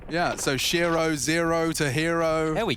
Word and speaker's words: shirro: thought about it though Shiro Shiro rhymes with hero he's actually put a